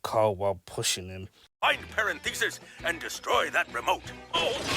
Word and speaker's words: Parenthesis: Being controlled by a sinister being named Professor Parenthesis. That's parenthesis, sir. It's Pantheresis, as Carl said it, as he got it wrong the first time, but he pronounced it now.